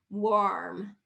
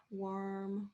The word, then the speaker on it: warm: of a little bit it's not ore it's war war warm warm worm warm warm i'm trying to